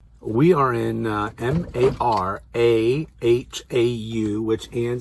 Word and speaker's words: Marahau: We are in Marahau, which Ann says is pronounced Marahau.